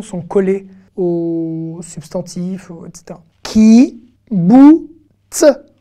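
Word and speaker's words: קיבוץ: Ki, bou, ts. Ki, bou, ts. Ben oui, kibbutz, ça s'écrit avec un kouf.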